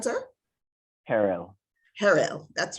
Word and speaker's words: Herrell: Our own Sergeant at Arms, Roger Herrell, followed by, please, what's the correct pronunciation, sir? Harrell.